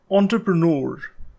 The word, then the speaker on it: entrepreneur: This word comes from French, so it has a tricky pronunciation.